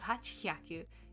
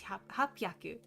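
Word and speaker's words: 八百: And then instead of hachhyaku, it's hapyaku.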